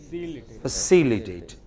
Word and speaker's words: facilitate: Non-stressed syllable would become very weak. We won't say fa, we would say just fa. So, it is facilitate.